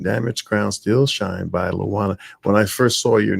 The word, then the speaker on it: Luana: Damaged Crowns Still Shine by Luana. When I first saw your name, I kept pronouncing Latwana. Twan, but the T is silent, is it?